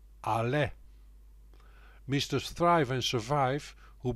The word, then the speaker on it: Allais: century after fucose invention he was a Frenchman hence the pronunciation arla mr.